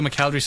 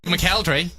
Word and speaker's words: McElderry: Joe McElderry's on the show this morning, ladies and gentlemen. More from him very, very shortly. It's 9:27. McElderry, or some people from this neck of the